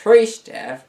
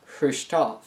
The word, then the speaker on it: Khrushchev: to bury the capitalist states it's not nikita krishna as is often said in the west but nikita khrushchev he did not cook food aboard the boat